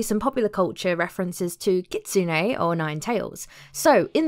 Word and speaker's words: kitsune: lover basically um yeah I just realized I'm pronouncing it wrong it's kitsune it's not how I was saying it before so it's kitsune now I want to mention although we don't